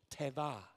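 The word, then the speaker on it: תבה: Teva, teva. The V is actually a B. I'm horrible at pronouncing, like, the original Hebrew. Just trust me on this. But it's teva.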